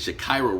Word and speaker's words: Shakira: Her name is Shakira Rule, and she was a credit repair specialist where she would help people.